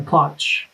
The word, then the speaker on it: Ploch: And, can you verify, am I saying it right, Plouch, your last name? Uh Plouch.